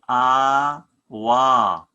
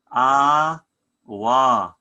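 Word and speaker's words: ܐܒܐ: Is A, Beth dot underneath is W with the Skapa A, so it's gonna be A, Wa. A, Wa.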